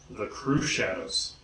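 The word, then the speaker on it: Crüxshadows: America the crew shadows the crew shadows yes the umlaut over the you is purely for decoration if you were to pronounce it it would come out three shadows next we have one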